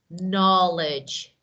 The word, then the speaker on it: knowledge: don't read okay so K is silent so we don't read we don't pronounce we just okay right